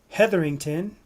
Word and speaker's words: Hetherington: So we have Jim Hetherington. Is that correct? Did I pronounce it right, Jim? Uh-oh, Jim frozen? Yeah, it's definitely correct. Jim Hetherington.